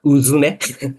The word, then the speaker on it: UZUME: The correct pronunciation is Uzume.